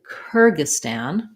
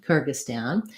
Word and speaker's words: Kyrgyzstan: kerge kyrgy and then even though there's a z and an s we just have the s sound the stan syllable has the ah black cat vowel so it sounds like kyrgyzstan kyrgyzstan now that's how we